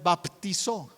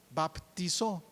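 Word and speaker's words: βαπτίζω: griego para bautismo es baptizo baptizo bueno así lo pronunciamos en castellano en griego se escribe diferente este yo les he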